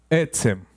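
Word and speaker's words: עצם: Etzem. Sin acento en ninguna de las vocales. Etzem.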